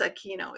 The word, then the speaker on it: Aquino: Destine, say hello to the people, and Denise Aquino. Is that correct pronunciation?